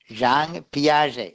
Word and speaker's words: Jean Piaget: That is the correct pronunciation. JEAN. It is a French name. Jean Piaget.